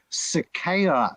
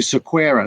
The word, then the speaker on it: Sequeira: it look it's like some people pronounce my last name cicada which is the Portuguese Brazilian sort of Starling but uh my ancestry is um my father was uh going Indian and they tended to anglicize the pronunciation of Portuguese names to Sakura so there you go